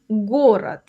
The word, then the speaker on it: город: Something to notice here, the word is spelled город, but the d at the end sounds like t.